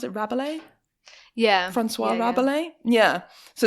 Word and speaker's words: Rabelais: So it's based, like you said, on how do you pronounce it? Rabelais?